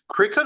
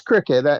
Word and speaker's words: Cricut: I think it's cricket or circuit, or am I pronouncing it wrong? I think it's the same thing. It's Cricut.